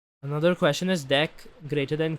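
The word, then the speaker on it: deque: Even when I learned that the pronunciation was deck, like it sounded like the English word de e ck.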